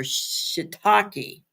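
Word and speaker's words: shiitake: the name so she told me how to pronounce them they're shitaki yeah and and guess wyom me girl most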